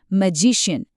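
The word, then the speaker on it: magician: मैजिशियन, pronunciation मैजिशियन, मतलब जादूगर।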